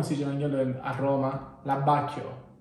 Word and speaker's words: abbacchio: L'abbacchio. Abbacchio.